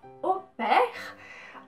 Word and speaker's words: au pair: Vamos começar então falando sobre a pronúncia correta é essa, então au pair, A-U. Em francês vai ter esse som de O, por mais que a